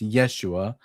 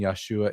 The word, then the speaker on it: Yeshua: The pronunciation Yeshua is debatable. It's not. The the letter it's it's the shva. The the schwvah is underneath the u, and the shva makes a very slight a very slight e sound.